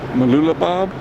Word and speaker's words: Mooloolaba: the next location, see Steve Irwin's Zoo and Mooloolaba, I think is how you say it. Totally hard pronouncing it.